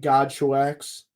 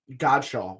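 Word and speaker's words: Godchaux: show X or right godshaw wow I really mispronounced that one that was brutal it spelled God's wax yes but it's c-h-a-u-x right roughly yeah okay there's an X at the end there is an accent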